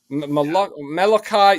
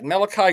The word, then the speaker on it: Malachi: Oh my God, I can't pronounce his first name. Nikolai Corey, right? Yes. Malachi. Malachi Corey.